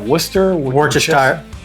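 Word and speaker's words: Worcestershire: Worcester. Worchester. Worchester sire sauce. I think I'm good with worester.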